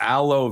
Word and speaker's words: Alo: be the next prompt aloe vera pronounced alo alo alo alo like aloe vera Alo okay all right